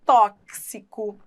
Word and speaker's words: tóxico: você vai explicar olha tóxico se escreve com x mas a representação fonética desse x não é a de ch entendeu Como é em xarope então em xarope o x se pronuncia como ch inem tóxico aí você explica uma coisa é grafema outra coisa fonema in tóxico a representação do X é com o CS por isso é que você tem que falar tóxico entendeu E você mesmo